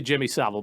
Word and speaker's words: Jimmy Savile: Do you pronounce it like Savile or Savile? Sav. Jimmy Sav. I've said that wrong forever. I heard it recently. Definitely Jimmy Savile.